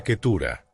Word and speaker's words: Ketura: En el idioma hebreo original se pronuncia Ketura.